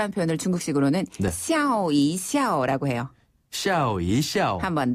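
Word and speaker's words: 笑一笑: 중국식으로 샤오이 샤라 해요네 샤오이샤오 한번 더 샤오 이샤오 아 이거 발음을 잘해야지 웃으면서 해야지 욕하는 거 같아요 샤오 이샤 이샤네 이때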